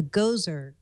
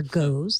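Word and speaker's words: Gose: This week I got to try a Gozer beer, or Goes, however you want to pronounce that. G-O-S-E. A G-O's. A Geos, as Paul might say.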